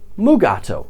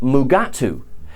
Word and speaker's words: Mugato: saw the mugato before in the original script it was called the gumato however DeForest Kelly everyone's favorite doctor fight me was unable to pronounce the word so it was Rewritten as mugato however DeForest Kelly and William Shatner mispronounced it again and called it mugatu which is where boeingler's